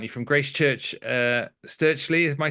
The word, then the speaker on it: Stirchley: from Birmingham aren't you from Grace Church uh sturley am I saying that correctly that's right yeah